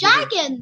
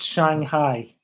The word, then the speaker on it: Shanghai: Oh, We've got, some people think it was Shaggin. Most people. So I thought it was what? That one. What did you call it? Shaggin. Guess what, Daddy? Daddy, guess what? What? What? It's pronounced Shanghai.